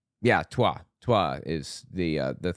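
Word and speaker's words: Twa: Tosi tribe and there's the Tua tribe I believe is how it's pronounced yeah tuah Tua is the uh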